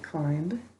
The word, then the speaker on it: climb: Good, we need to underline our IE because it's saying its name. And the other thing? Good, we're going to double underline our B because it's silent.